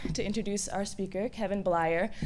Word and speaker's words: Bleyer: I'm really excited today to introduce our speaker, Kevin Bleyer. I was calling him Kevin, and he told me it was Bleyer, and it rhymes with liar, so I got it down.